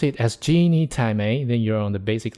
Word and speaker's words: 鸡你太美: May, just like Thai, it may sounds like May in Chinese, which means beautiful, elegant. So here you got a way to pronounce it and understand it. Genie Thai May.